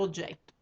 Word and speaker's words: oggetto: And now oggetto has two G's and two T's. Oggetto. In Italian, we pronounce, if there's two of them, we pronounce two of them. If there's three of them, we pronounce three of them.